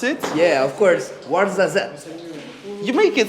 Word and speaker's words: Ouarzazate: Can you actually pronounce it? Yeah, of course. Ouarzazate.